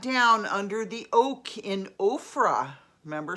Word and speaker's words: Ophrah: Came and sat down under the oak in Ophrah. Remember, spelled like Oprah, but with an extra H in there.